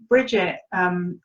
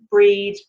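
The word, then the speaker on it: Brigid: So Bridget, Breed, you'll see there's lots of different spellings, lots of different pronunciations, and they're all correct and they're all true.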